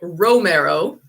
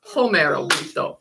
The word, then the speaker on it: Romero: yes it looks like Romero but again remember he's from Brazil and they pronounce things differently and so it's home arrow born in 1963 born